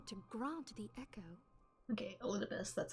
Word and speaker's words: Elidibus: Okay, Elidibus, that's how you pronounce that.